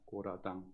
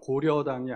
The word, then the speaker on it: 고라당: 그 당의 이름은 고라당입니다 고라당 발음을 잘 하셔야 됩니다 고려당이 아니고 고라당입니다이 당은 야당일까요 여당일까요 철저한